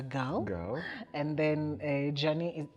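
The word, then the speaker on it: Djani: girl and then a journey the d is silent d-j-a-n-i oh like django yes yes yes um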